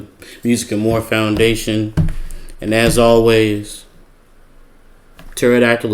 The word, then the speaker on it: pterodactyl: And as always Pterodactyl is spelled with a P. That's why you can't hear it in the bathroom cuz the P is silent.